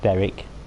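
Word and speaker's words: Berwick: stop off at beric i'm going to assume it's pronounced beric there's a very confirmed tweed in the on the border between scotland and england it's and that's pronounced eric so why isn't i don't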